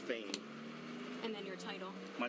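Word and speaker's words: Phayme: His name, last name is spelled P-H-A-Y-M-E, pronounced Fame.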